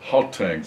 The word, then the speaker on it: Gauteng: How do I pronounce that? Gauteng province.